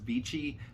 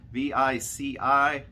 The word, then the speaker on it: Vici: The Venetian itself, as well as the convention center, is being purchased by a company, I'm going to say it's pronounced Vici, V-I-C-I.